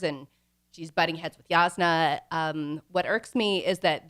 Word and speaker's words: Jasnah: I said it right, Jasnah. Jasnah. Yeah, you got to get it back to the back of your mouth.